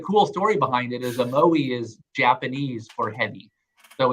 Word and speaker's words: Omoi: First, pronounce this for people who didn't hear the podcast. Omoi. O-M-O-I.